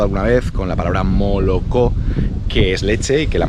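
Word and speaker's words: молоко: vez con la palabra moloko que es leche que la mayoría de rusos por un gen mala con o por qué lado cuando esa zona cuando no es tónica pues se pronuncia como a mal la mayoría de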